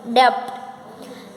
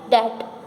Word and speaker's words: debt: बैड डेट हम किसको बोलेंगे, देखो यहाँ पे स्पेलिंग होता है DEBT, डेब्ड, डेब्ट, लेकिन आपको बोलना है डेट, बैड डेट।